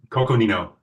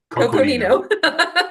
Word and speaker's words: Coconino: Coconino. Coconino.